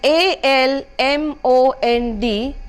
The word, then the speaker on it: almond: The correct pronunciation would be pronunciation and not pronunciation. Alright. The next word is ALMOND, which is a kind of a nut.